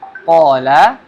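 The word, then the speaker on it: قَالَ: q di sini ya huruf qf dengan Mad Thobi'i ya Ada Alif Mati sini maka mad thi'i Ya qala Mad thai'i panjang dua harakat dan huruf qf ini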